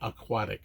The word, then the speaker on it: aquatic: I say aquatic, like Aquaman, aquatic theme park, SeaWorld, where Chief Brody's now grown son, Michael, works.